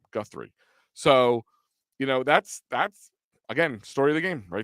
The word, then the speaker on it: Guthrie: Guthrie.